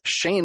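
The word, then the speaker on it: Sein: send the audio file over to Ireland, to Shane McKay. It's spelled S-E-I-N.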